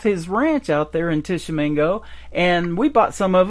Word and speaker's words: Tishomingo: One of the places I'm playing, and I think it's Tishomingo, I think is how you pronounce it, is Old Red.